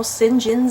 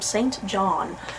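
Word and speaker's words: St. John: I'm still to this day surprised that's how sinjin's name is pronounced I when I was reading the book for the first time I called him Saint John and then to my shock when my professor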